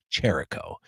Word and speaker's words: Chirico: right because he said it was like the wrestler Jericho but it's with a ch so I believe it's Jericho.